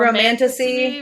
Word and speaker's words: Romantasy: Romantasy.